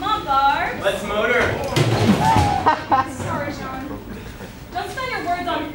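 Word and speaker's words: Jean: My name is John, not Gene. I know it's spelled like J-E-A-N, like Gene. But it's John, I promise it's John.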